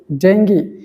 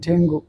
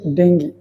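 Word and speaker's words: dengue: নিয়ে কথা বলব যে শব্দগুলো সাধারণত আমরা ভুল উচ্চারণ করে থাকি এর মধ্যে প্রথম হচ্ছে ডেঙ্গি আপনারা স্ক্রিনে দেখতে পাচ্ছেন যে শব্দটা সেটাকে আমরা অনেকেই বলি ডেঙ্গু আসলে এটার সঠিক প্রোনাউন্সিয়েশন হচ্ছে ডেঙ্গি এটা হচ্ছে ডেঙ্গি নাম্বার টু হচ্ছে ডিলিট এই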